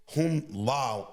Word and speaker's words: HuaLi: That's right, HuaLi. He actually talked about that too before. No problem. You're close. You're close.